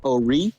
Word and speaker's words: O'Ree: let's say hi to Ori Ori Ori how do you say your name my name is a wreath ello REE REE the emphasis on the are you know it's French